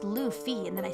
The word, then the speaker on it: Luffy: In my favorite TV show One Piece, a boy named Luffy, pronounced Luffy, and then I spelled it incorrectly, sets out to become king of the pirates due to a childhood dream.